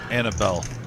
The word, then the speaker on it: Annabelle: of looks like a nutcracker it's probably the annal doll Annabelle Annabelle doll sorry mispronounced it I don't think I've seen that